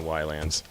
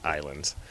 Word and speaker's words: Ylands: to kind of playing Ylands. Or, I'm sorry, I keep calling it Ylands because that's how they spell it. It's pronounced Islands.